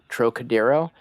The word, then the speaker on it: Trocadero: Trying to capture that, I believe the band is pronounced Trocadero.